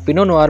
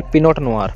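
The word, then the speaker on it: Pinot Noir: पिनो नुआर, पिनो नुआर में T silent रहेगा हमारा। पिनो नुआर हम बोलेंगे पिनो नुआर, ना कि पिनोट नुआर, पिनो नुआर।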